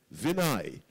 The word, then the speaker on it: Vinay: Vinay. Who? Vinay. Spell that for us.